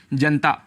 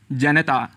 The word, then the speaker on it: जनता: शब्द प्रयोग करते हैं जनता जनता लेकिन इसका शुद्ध उच्चारण है जनता यहां पर न में जो अ स्वर है उसको हम छोड़ देते हैं जिसे हमें नहीं छोड़ना चाहिए और पूरा बोलना चाहिए जनता ऐसे ही आकाशवाणी